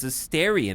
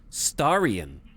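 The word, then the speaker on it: Astarion: the air so many keep mispronouncing his name is hysterian and not Starion shut up no one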